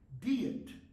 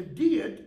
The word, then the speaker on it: Diet: happened in 1521 okay notice the pronunciation DEET a DEET is a meeting it's